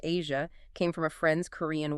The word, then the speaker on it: Aja: The very name AA, pronounced Asia, came from a friend's Korean wife and symbolized to him a sensual, sophisticated aura.